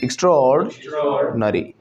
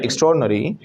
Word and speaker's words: extraordinary: हम पहले एक्स्ट्रा पे रुक रहे थे, एक्स्ट्रा ऑर्डिनरी, इट्स एक्स्ट्राऑर्डिनरी, एक्स्ट्राऑर्ड, एक्स्ट्राऑर्ड, एक्स्ट्राऑर्डिनरी, एक्स्ट्राऑर्डिनरी, एक्स्ट्राऑर्डिनरी, एक्स्ट्रा ऑर्डिनरी, है ना। इट्स नॉट एक्स्ट्रा ऑर्डिनरी, इट्स एक्स्ट्राऑर्डिनरी, okay.